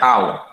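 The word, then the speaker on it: τ: Torsi ini disimbolkan dengan simbol seperti ini bacanya tau.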